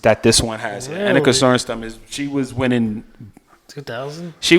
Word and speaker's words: Annika Sorenstam: Annika Sorenstam.